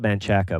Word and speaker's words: Manchaca: Yeah, it's spelled Manchaca, but Oh, if you want to sound like a local, it's Manchac. Manchac.